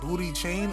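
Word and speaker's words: Booty Chaaain: Is it Is it Booty Chain or Booty? Like pooty like like Yeah, it's booty chain and it's spelled B O O T Y C H A A A I N with three A's.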